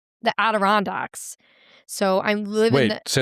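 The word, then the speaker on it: Adirondacks: I'm from the Aderondex. So I'm living Say that word again. Aderondex. Aderondact. Aderondex. There's no N. It's not Anderondex.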